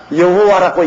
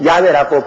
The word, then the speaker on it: 야훼: 이러니 여러분 아버지 이름도 하나 좀 듣기 발음 못하는. 그래서 제가 여호와라고 이름을 적어도 꼭 야훼라고 불러라고 하는 이유가 우리 아버지 성함의 정확한 발음은 야훼입니다.